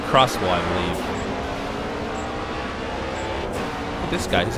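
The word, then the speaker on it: X-Bow: a crossbow KTM crossbow it's spelled X by the way but pronounce it crossbow I believe this guy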